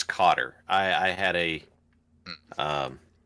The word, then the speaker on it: Qatar: Believe it or not, it's Cotter.